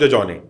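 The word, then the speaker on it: Dejokney: डी ई जे ओ के एन इ वाई इसमें के साइलेंट है तुरल लेमा डिजोने ये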